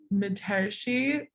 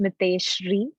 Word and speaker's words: Miteshri: From Mitershi, I'm probably, please unmute and fix how, if I need to fix how we said your name. Leaders will always push, go ahead. It's pronounced Miteshri, Miteshri. Miteshri, thank you.